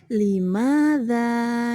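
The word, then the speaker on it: لماذا: Kalau yang sudah biasa atau sudah pernah atau sering mempelajari bahasa Arab, maka yang sudah paham ini cara membacanya adalah limadza ya.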